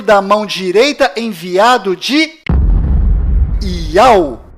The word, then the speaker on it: Yahu: nome do Criador é Yahu, e a última letra do seu nome tem som de H mudo, do qual não altera a pronúncia deste nome.